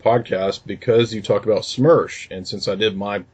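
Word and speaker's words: СМЕРШ: In regard to SMERSH or SMERSH as we pronounce it, it's basically a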